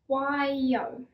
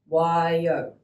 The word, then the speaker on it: Waio: On to our next word, Waio. Your turn. We will try that again. Waio.